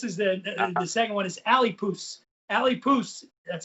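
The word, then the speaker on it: Alipús: This is the second one is Alipoos. Alipoos, that's how we pronounce this one.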